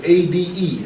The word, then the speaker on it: Ade: And of all things, the man's name, his first name was A-D-E. How do you pronounce that?